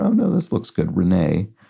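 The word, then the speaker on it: Renée: Renee would have an accent here, speaking of French, to give it the A sound at the end.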